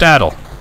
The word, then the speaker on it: Adol: It's pronounced Adol.